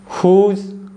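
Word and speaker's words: whose: एच आ रहा है पहला एग्जांपल है हु नेक्स्ट वन है हुज होल हमम तो इन वर्ड एग्जांपल्स में भी जो डब्लू है ना य साइलेंट है क्योंकि देखिए जो ह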